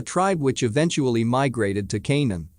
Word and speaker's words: Canaan: which eventually migrated to Canaan pronounced Conan with the k sound of the serpents a